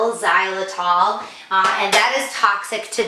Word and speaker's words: xylitol: Some peanut butter have an ingredient called xylitol, and it's spelled Zylitol, xylitol, and that is toxic to dogs.